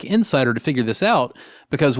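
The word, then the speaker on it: inSSIDer: issues like this to run a tool like Insider which is spelled i n s s i d e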